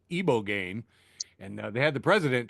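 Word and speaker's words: ibogaine: ibo gain which I've now been told is pronounced iboane and they had the president try and pronounce it and he just just kept saying ibogane ibo gain ibane.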